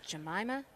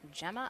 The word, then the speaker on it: Jemima: Apparently I have been pronouncing, I have misread a name. It is Jemima Rahman, not Gemma. I apologize for that. Very tiny I between the two M's on the lineup that I have here.